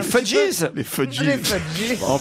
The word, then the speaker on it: Fugees: Ça s'écrit F-U-G-E-E-S. Ils sont en prononce à l'américaine. Les Fudgees.